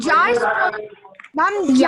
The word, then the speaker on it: ja: Ma'am, ja is pronounced as yeah, right?